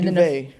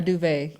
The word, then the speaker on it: duvet: Oh, I thought it was called a duvet. A duvet, yeah. Is it spelled with a T at the end? Yeah, but I guess I shouldn't pronounce it.